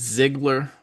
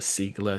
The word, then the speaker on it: Ziegler: Now, her name, when you look at it, it looks like it's Ziegler. That's how we would pronounce it here, but she is actually from Denmark, and I'm trying to pronounce it the way that it's supposed to be pronounced. And I still might have messed up a little bit, but I've gone over with her a couple of times, and I think I got it right.